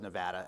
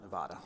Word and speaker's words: Nevada: As I get myself organized here, I'll take the opportunity to, as I always will, to correct the pronunciation of my home state as Nevada and not Nevada.